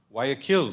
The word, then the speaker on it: Guayaquil: How do you pronounce that? Guayaquil School of Medicine.